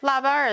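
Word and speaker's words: 腊八: It's called labar cu. Labar is actually, or laba is the proper pronunciation. In Beijing accent, it's labar.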